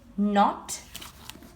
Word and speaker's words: knot: Letters that you don't pronounce. I'm going to read it for you once. Knot, like when I tie a knot. Knee, knife, knock, night.